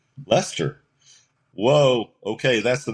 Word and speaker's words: Leicester: this street Lester Street and I went that's pronounced Lester Lester whoa okay that's the name of the band